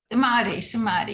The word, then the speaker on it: Samadhi: Samadhi, yes.